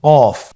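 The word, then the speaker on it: ق: কফ উচ্চারণের ক্ষেত্রে অবশ্যই 3 আলিফ টেনে পড়তে হবে।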